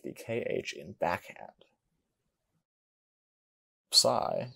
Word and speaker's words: psi: Psi is pronounced like a PS. An example is the PS in gypsum.